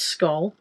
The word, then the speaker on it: Scholl: Is it Skoll or Scholl? Does anyone know? It's S-C-H-O-L, and I've always pronounced it Skoll, as in school. I think it's Skoll.